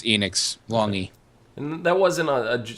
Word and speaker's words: Enix: um so we had uh Square Enix or enex how do you pronounce that is it Enix or enex Enix Enix I've heard it both ways long it's Enix longy and that wasn't a a a psych